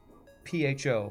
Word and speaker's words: pho: I know how to pronounce it. It is pho.